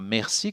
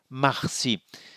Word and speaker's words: merci: Un dernier commentaire, l'autre terme c'est merci pour remercier, mais nous ne le prononçons pas merci comme les Canadiens français, nous le prononçons marci.